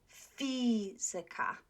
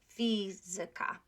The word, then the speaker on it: fizyka: Okay, fizyka. Okay, fizyka. So before ika.